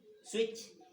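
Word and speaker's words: switch: इसी प्रकार हैच, है ना, मैच, नोच, क्लच, इच, स्केच, स्विच। अब यहाँ पे देख लीजिए, इतने सारे वर्ड लिखे हैं, सारे में जो टी है वो क्या है? साइलेंट है।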